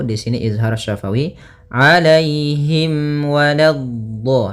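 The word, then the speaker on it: ولا: Alaihim walado. Hati-hati di sini. Walado. Lanya jangan sampai tebal. Jangan walad tapi lanya tipis. Walad baru di dhadnya yang tebal.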